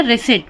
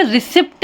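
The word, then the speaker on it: receipt: भी देख लेते हैं अगर किसी शब्द में पी हो और तुरंत बाद टी हो तो पी साइलेंट हो जा जाता है इस स्पेलिंग में क्या है पी है पी के तुरंत बाद क्या आ गया है टी तो यह क्या हो गया रेसट बहुत से लोग इसे रिसिप्ट भी पढ़ते हैं जो कि सही नहीं है रिसी जिसे हम रसीद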